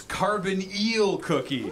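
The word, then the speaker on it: Carbonyl Cookie: all you want but you mispronounced my name i'ma teach you mother Buster's chemistry now it's carbon eel cookie and a carbon eel is a carbon double bonded to an oxygen learn you a thing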